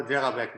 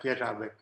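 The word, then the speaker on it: Jeřábek: It's the one you call Jedrzejbek, but it's pronounced more like Jedrzejbek.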